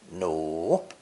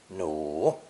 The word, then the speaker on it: 努: Pronounced third tone, 奴, 奴.